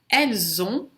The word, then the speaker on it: elles ont: O S de ela, que não se pronunciaria à frente de uma consoante ou se estiver sozinho, ela, na frente de uma vogal, o S vai ter o som de Z.